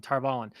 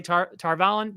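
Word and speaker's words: Tar Valon: I'm going to say Tarvalin because that's how it's been pronounced for decades because of the audiobooks.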